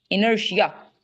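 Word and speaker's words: inertia: इट्स टिया। टिया की sound it's Shia. इनर्शिया।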